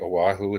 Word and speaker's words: Oahu: how to pronounce that oahu for five years back in the 80s when his dad was in the army yeah i'm i'm in oahu you pronounced it right oahu it's the island with